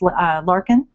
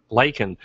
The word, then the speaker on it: Lakin: And so you can follow her at CS Larkin. Lakin. Lakin, thank you. CS Lakin. Which I mispronounced.